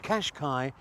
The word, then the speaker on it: Qashqai: remains absolutely clear, and that is that the Qashqai is a very, very nice all-round motor car.